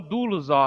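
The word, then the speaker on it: δοῦλος: No grego é doulos, tá? Que significa literalmente escravo. Passa a outra para mim, por favor, Samuca. Então, doulos, no grego, é assim que se lê, que se escreve, e literalmente significa escravo.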